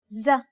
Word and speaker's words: ز: The next consonant is ز زرع منزل زيت. It's identical to the Z in zoo or size.